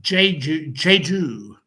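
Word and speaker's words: Jeju: Um, where is Now this is uh it's pronounced Ju Ju.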